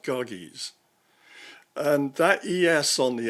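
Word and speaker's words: Gyges: in Greek he's called kagis g-y-g-e-s well that Y is pronounced like a u so it should be pronounced goggies and that yes on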